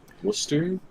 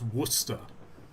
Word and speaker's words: Worcester: better pronounce from fre pronounced waser Worster oh where are you finding an H in oh that's Worster wer there's Worcester and